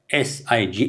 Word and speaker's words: sign: صح فوتو ذلنا راح نتكسرنا بتماثلي كلا بزح silent letters هلا أبتفع غلط جن basically أبتن most common هنا غلط focus كملنا نعمل S-I-G-N رينا sign I-G-N دود الزيب جو غلط يدلو